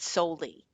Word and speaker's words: Solie: It's called How to Say It to Seniors by David Soley. The last name is spelled Solie.